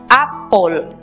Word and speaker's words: apple: Recordemos que al no tener sonido la E, matizamos las dos consonantes que nos quedan con el sonido O, apple.